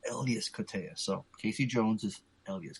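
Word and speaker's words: Elias Koteas: people always say that correctly incorrectly it's actually Elas Kas I'm like mind blown man it's Elas Kaya so Casey Jones is Elas Ka so now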